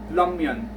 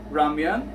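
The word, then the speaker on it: 라면: actually pronouncing ramyun as lamyeon, lamyeon, yeah, right? It's actually R in the middle between R and L.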